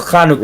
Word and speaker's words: Hanukkah: __ ] eight days it's pronounced kanuka Lucky Bastards Hana can't do it with the tongue it's not H it's not got like a cough no something yeah g